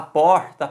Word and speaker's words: porta: Se você fala porta, porta, essa questão do sotaque não interfere na sílaba tônica. Então, quando a gente fala porta, qual é a sílaba que se sobressai? Por. Então, a primeira sílaba.